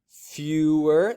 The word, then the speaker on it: fewer: Fewer. This is an interesting word. Hear that sound. Few. You. There's two E's here, but that is a long U sound.